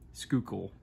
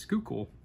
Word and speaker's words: Schuylkill: think there's a river in Pennsylvania called the Schuylkill, and that's how the locals pronounced it, Schuylkill. So, yeah. If somebody knows otherwise, please let me know down in the comments. But according to Google, it's pronounced Schuylkill.